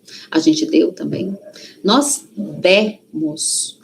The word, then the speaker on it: demos: Demos, deram, abre o som do e, né? Fica um e aberto.